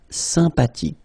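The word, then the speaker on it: sympathique: Remember the ash h is not pronounced sympatic.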